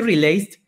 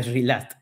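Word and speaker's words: relaxed: Y este relaced, en verdad se pronuncia relast.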